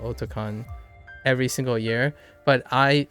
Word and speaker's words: Otakon: So this will be the 25th year of Otakon. And it's pronounced Otakon because it's otaku meets convention.